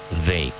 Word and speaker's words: they: And with they, ask yourself a question. What's the capital of Aragon? The capital of Aragon is Zaragoza. They.